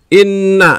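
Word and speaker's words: إِنَّ: berharakat tasydid perhatikan guna terdapat pada kata Inna Inna dibacanya mendengung pada kata Inna adalah Nun berharakat tasydid maka jawabannya adalah a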